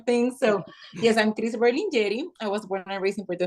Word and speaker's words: Berlingeri: Berlingeri. Berlin like the city, Jerry, as Tom and Jerry. So Berlingeri or Berlingeri if you want to roll your R's.